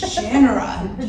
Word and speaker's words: Shannara: It is Shannara. You cannot desecrate this series by pronouncing it the wrong way.